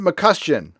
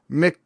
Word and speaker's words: McCustian: Okay, it's from Jason McCustian. Okay, and it's pronounced McHuston. Jason McHuston. And it's Scottish.